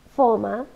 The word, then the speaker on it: former: resident of your town former two syllables we stress the first one former it's an adjective